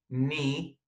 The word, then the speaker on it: knee: And the last one, again with the silent K, knee, اللي هي الركبة.